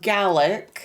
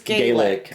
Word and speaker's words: Gaelic: that when you say Scottish Gaelic, it is pronounced Gaic. Oh, but when it's Irish, it's Gaelic. Okay. So, Scottish Scottish Scottish Gaik and Irish Gaelic is that I took away from that.